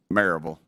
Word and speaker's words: Maryville: In my district, the Maryville office, I felt like they needed a significant overhaul.